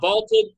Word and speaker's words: VLTED: And by using the Vaulted Challenge feature, you can prove you're smarter than your friends. So go download the Vaulted app and give it a try for free. Vaulted is spelled VLTED, and it is the